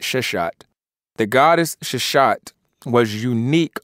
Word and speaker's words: Seshat: And it says that the goddess Sheshat, as it's called Sheshat, Seshat, but I'll go ahead and pronounce it Sheshat.